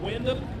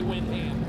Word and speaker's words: Windham: What's that? Windom. What I say? Well, I'm from Indiana. We pronounce things different. Yeah. So, he says Windom. I say Windham.